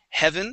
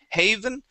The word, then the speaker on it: heaven: okay um let's uh get the short e sound on Heaven instead of hey Haven it is he heaven heaven uhhuh one more time